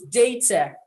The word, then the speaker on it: data: age it is not data but the americans will say data but we speak the british english so it's data data uh the same